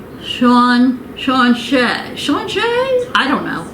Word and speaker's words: sláinte: And I think it said Sean Shay.